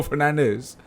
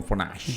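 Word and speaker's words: Fernandes: he pronounces his name I don't think he pronounces it like that every the whole world is calling him Bruno Fernandez Bruno fash Bruno fash than you a guys uh I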